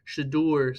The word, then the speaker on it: Shedeur: Shadur Sanders.